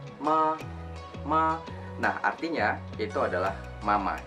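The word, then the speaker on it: 妈: Jadi kalau intonasi pertama itu biasanya agak datar dia pengucapannya. Misalnya ma.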